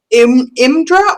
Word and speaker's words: Imdra: do to help you imdra or indra i'm just trying to spell it uh good question i am d-r-a that's her first name her last name is arla gath a-r-l-a-g-g-a-t-h thanks she is a